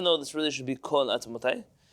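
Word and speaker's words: כָּל עַצְמוֹתַי: based on the verse, Kal atzmotai. Now, even though this really should be kol atzmotai, there is a Sephardic tradition that this word is pronounced kal atzmotai.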